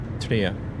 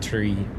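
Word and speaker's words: Trier: It's actually pronounced Tria. Tria, not tree.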